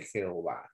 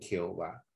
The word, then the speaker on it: Jehová: de ahí pues seduce Jehová no nosotros en el español lo traducen Jehová por qué lo traducen en Jehová por las vocales de la palabra Adonai que dejaron los masoretas por eso es de